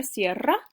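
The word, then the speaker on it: cierra: both start with p this word sierra in spanish we roll the double r sierra means close like close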